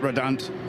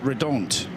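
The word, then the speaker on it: Redant: We were chatting to them yesterday in the bar and uh Bert Reddant, sorry, Bert Red to give it the Belgian pronunciation, the team principal and man behind Red Ant Racing.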